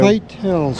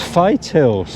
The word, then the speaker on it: Whitehills: White Hills. So, Fight Hills. Fight Hills. Fights. There you go. The correct pronunciation.